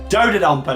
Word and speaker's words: Dodonpa: It used to be just Dodonpa. It's Dodonpa now. That's how you pronounce it. Dodonpa.